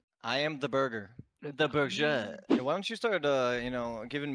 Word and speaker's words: Berger: Yeah, burger. Yeah. Burger. Yeah, burger. Is that right? Berger. No. It's pronounced berger, but it's spelled the way he has it in his name. Berger.